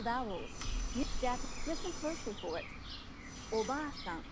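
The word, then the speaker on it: おばあさん: The a in ba is held for 2 claps. Oba-san. Japanese learners often shorten the long vowel in ba and say Oba-san, meaning aunt, not grandmother. In this case, not only is the pronunciation incorrect, but by shortening the vowel, you change the meaning of the word.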